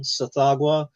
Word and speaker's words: Tsathoggua: That's not how it's pronounced. But the name of the creature is like TSHGH. Jesus. Tsathoggua.